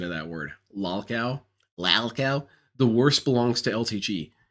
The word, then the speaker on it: lolcow: Lalcow? The worst belongs to LTG. LTG pronounced it he's pronounced it. How did he pronounce it? It was really stupid. Lol LOL cow. So he pronounced the LOL twice.